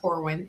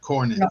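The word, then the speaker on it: Cornyn: right now um Senator Corwin is up for it's Cornin. Am I saying it wrong? Yes, Cornin.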